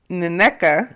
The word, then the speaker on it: Nneka: Ashley is inviting the new girl, Nneka.